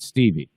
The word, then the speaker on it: Stavia: That last one is Stevie. It's actually, she pronounces that Stevie.